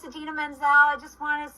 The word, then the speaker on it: Idina Menzel: John Travolta pronouncing Idina Menzel's name wrong at the Oscars. And this is such a good use of TikTok for Idina Menzel. Hey, Adele Dazeem, it's Idina Menzel.